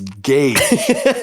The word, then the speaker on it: Gage: He's like, my name is Gage. Gage. And then she'd be like, okay. And then she'd say it right one time. He's like, all right, gay.